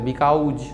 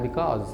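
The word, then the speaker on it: because: हमारे इंडिया में बहुत फेमस है बिकाउज, जबकि होता है बिकॉज।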